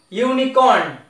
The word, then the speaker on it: unicorn: yes vowel however letter but it is sounding unicorn why is sound here uni that means why